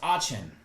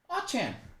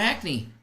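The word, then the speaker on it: Achane: Albert says it's pronounced Achan. Achan. I'll still probably call him Acne, but I'll try Achan.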